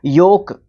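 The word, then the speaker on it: yolk: हमारा लेटर है हमारा वाई योक योक प्रोनाउंस किया जाता है दोनों वर्ड्स को योक वाई ओ के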